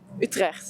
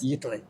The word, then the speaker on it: Utrecht: Utrecht. Utrecht.